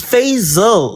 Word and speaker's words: Fasil: Fasil. My bad. Fasil. And can you please say it's Fazil like Hazel with Fasil?